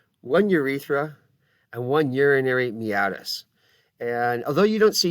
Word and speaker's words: meatus: later but it looks like it might be pronounced urinary meatus it's actually pronounced me at us and we'll